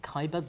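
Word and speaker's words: Ceiber: the 1984-85 coal dispute do you pronounce this saber caber c-e-i-b-e-r kyber excuse me kyber the greatest improvisers in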